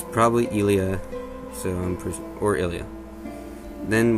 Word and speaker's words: Ilia: then we have ilia it's either ilia or ilia but it doesn't really matter in english because it's kind of shown the same way in japanese idia so we're not really sure about that though i'm pretty sure again it's accidents on the first first vowel and in idia so it would be ilia or ilia though ironically enough i